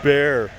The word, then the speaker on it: Bexar: It's pronounced bear.